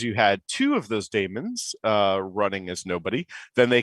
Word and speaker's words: daemon: and formerly unix land i usually pronounce it as daemon but technically speaking if you read the like letters it's actually demon it's i think a